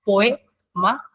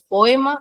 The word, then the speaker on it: poema: Esta palabra, por ejemplo, sí tiene 3 sílabas, no es poema, es poema. Acá tenemos OE, son vocales abiertas, vocales fuertes, entonces se tienen que separar, sí o sí.